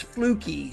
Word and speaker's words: Flucke: John Fluke or Fluky, how do you pronounce it? Preferably, it's Fluky, Sunny.